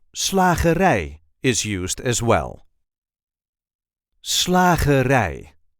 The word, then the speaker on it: slagerij: Slagerij. The emphasis is now on the last syllable. Slagerij.